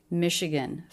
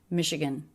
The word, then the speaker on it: Michigan: 3-syllable word, first syllable stress. This is one of the words in American English where the letters CH make an SH sound. Michigan. Michigan. And there's a schwa in the unstressed last syllable.